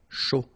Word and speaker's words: chaud: Un chocolat chaud, remember CH, chaud, chocolat, and then final T not pronounced, chaud, final D not pronounced.